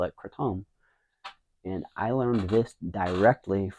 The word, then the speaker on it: Kratom: I call it Kratom or Kratom. Kratom is the way in Thailand they say Kratom.